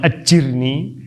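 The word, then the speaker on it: أجرني: Jadi kalau kita ditimpa musibah, timpa aja, doa aja Allahumma ajurni fi musibati wa akhlifni khairam minha. Wa akhlifli khairam minha. Allahumma ajurni fi musibati, ada yang membacanya Allahumma ajirni, ya sama aja sih.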